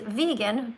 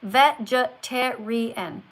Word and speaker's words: vegan: I'm just saying that you looked at a word which is vegan, two syllables, and you said veen.